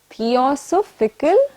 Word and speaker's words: theosophical: little difficult for you let me help you break it down and learn it though you know with an o theo so society theosophical society now say it in one